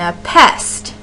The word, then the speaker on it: anapest: by a stress syllable and a pest is how that word would sound if you're if um if you're stressing the syllables and a pest and